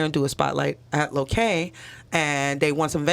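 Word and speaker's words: Lokal: that yeah um so my store is called lokay it's spelled l-o-k-a-l but it's a small business owner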